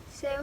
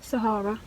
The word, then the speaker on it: Sahara: Rather spend a day in the Sarah? Am I pronouncing that okay? Sahara.